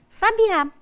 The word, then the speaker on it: sabiá: adjetivo sinônimo dinheiro kita sabia é a forma do pretérito perfeito do indicativo do verbo saber e sabiá é um substantivo designativo de cohen conhecido passado vejam cada um tem a sílaba tônica em um lugar diferente então é importante que se saiba colocar o acento eu quero falar do